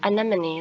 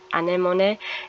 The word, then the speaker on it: anemone: called anemone, but when I first saw it, I said, ooh, it's like anemone, like the sea creature or sea life. But my mother told me, she's like, oh, that's not the way you pronounce it. It is anemone, and it's a type of flower.